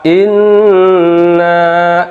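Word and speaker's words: إِنَّ: Baik, di ayat pertama, inna, lihat ada huruf nun bertasydid. Kalau ada nun bertasydid, itu termasuk bacaan gunah. Pastikan bacanya ditahan ya, jangan terburu-buru.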